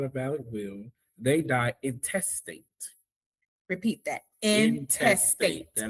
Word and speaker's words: intestate: The Florida Bar explains that if someone dies without a valid will, they die intestate. Repeat that. Intestate. And it's spelled i n t e s t a t e.